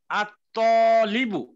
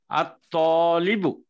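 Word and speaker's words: الطالبُ: এটাকে মারেফা করতে কি হবে, আলিফ লাম লাগাল উচ্চারণ হবে আত্তলিবু, আত্তটা হলো হরফে শামসিয়া, এটা আলিফ লাম লাগাইলে এই তর উপরে তাস দিতে হবে, দিত্য উচ্চারিত হবে আত্তলিবু।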